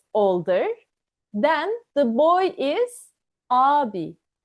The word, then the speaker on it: ağabey: If the boy is older, then the boy is abi. Abi. We write it as ağabey, but we always read abi.